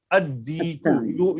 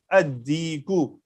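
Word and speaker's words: الديك: So if these letters are coming after Lam, then the Lam will not be vocal. So we'll directly go to the next word, next letter. At-Tajiru, At-Thawbu, Ad-Diku. You are listening me that Lam is silent in this.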